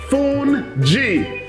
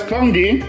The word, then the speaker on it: fungi: Like I was explaining before, it's just a cornmeal, it's a polenta, and it's pronounced Fungi. If you look at the spelling, it says fungi, but it's called Fungi.